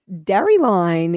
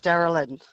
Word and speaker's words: Darylyn: Now we have Darry Line in Mernda. Is it Darry Line? Gary Lyon. No, it's Darylyn.